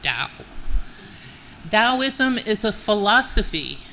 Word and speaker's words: Dao: It is pronounced Dao.